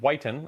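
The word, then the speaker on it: Whiton: trump administration senior advisor christian whiten and not whitten i got your name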